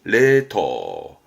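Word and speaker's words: 冷凍: 발음은 레터, 레터.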